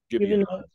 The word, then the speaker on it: Gibeonites: So the Gibeonites, is that the way you pronounce it? Gibeonites.